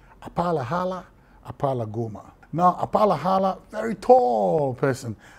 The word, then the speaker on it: Apalahala Apalagoma: I mean, I'll show you how to pronounce it. Apalahala Apalagoma. Apalahala Apalagoma.